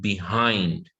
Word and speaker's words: behind: But now our stress is on the second syllable. Yeah. The second syllable. Yeah, and now you can see that the apostrophe is not on the start. It's on the second syllable. Yeah, it's in the middle now. Yeah, so above, behind, complete. Okay, and this is just for your pronunciation to make you sound natural. Yeah, so instead of saying behind, yeah, you would say behind.